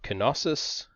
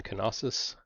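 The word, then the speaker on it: Knossos: one large city of kenosis and yes you do pronounce the k in canosis we're also going to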